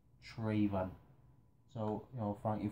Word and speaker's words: Traven: I called him Trevon. And, you know, he corrected me and I. He said, it's, you know, pronounced Traven.